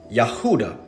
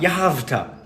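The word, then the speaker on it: יהודה: In the original Hebrew pronunciation of Judah, Yahuda. There it is. The ua, Yahuda. Not Yahavta.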